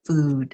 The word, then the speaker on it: Füd: So when we see fud, we pronounce it food. It has moon lot over it.